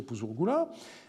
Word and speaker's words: Puzur-Gula: Les documents remontent au grand-père qui s'appelait Puzur-Gula ou Puzur-Ninkarak, c'est écrit de 2 façons, mais on peut penser que son nom était prononcé Puzur-Gula.